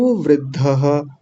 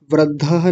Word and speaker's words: वृद्धः: कुरु वृद्धः वृद्धः नहीं बोलेंगे। कुछ लोग ऐसा वृद्धा बोल देते हैं। वृद्धः नहीं वृद्धः।